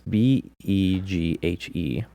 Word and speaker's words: Beghe: Yeah, this other guy, Jason, and I can't pronounce his last Beagle. name. It's Beghe, and he was very vocal in the documentary Going Clear, and I've seen him in several different movies.